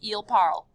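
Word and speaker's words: ils parlent: ending is e-n-t but in true french fashion they do not pronounce that ending it sounds like this eel parl l parle sounds the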